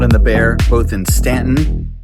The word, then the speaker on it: Staunton: that was my conversation with Ian Boden of The Shack and Maud and the Bear, both in Staunton, spelled Staunton, pronounced Stanton, in Virginia, rural Virginia.